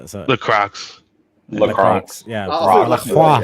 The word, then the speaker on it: La Croix: That's an American pronunciation because it's a French word. So it's La Croix.